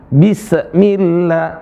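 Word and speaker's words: بسم الله: Perhatikan huruf sin. Huruf sin dialirin aja suaranya. Bismillahirah. Bis ya. Jangan. Bismillah. Bismillah. Alirin.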